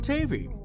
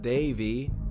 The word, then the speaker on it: Tavi: call me Benji and I am Tavi no not Davey Davey it's short for Octavian his parents are really